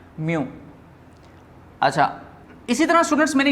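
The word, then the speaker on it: μ: Students ये sign जो है इसको हम वर्ड में प्रोनाउंस करते हैं म्यू।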